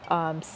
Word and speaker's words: Cinsault: It's spelled, and I hope I'm saying it right, Cinsault.